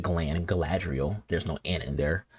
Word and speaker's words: Galadriel: in you know gladriel was I said Glenn Galadriel there's no ant in there I should know how to pronounce her name because the sugar whole bunch